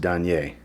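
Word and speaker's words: Danaë: I've been saying Danae. It's actually pronounced Danier.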